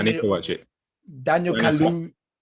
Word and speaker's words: Kaluuya: Daniel Kaluuya. How do you say his name? Kaluuya.